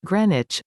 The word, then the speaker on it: Greenwich: a family day out the neighborhood of greenwich pronounced greenwich offers everything a visitor